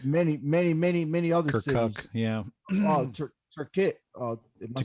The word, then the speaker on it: Tikrit: Turkit. Am I saying it right? Yeah, we took Tikrit Air Base.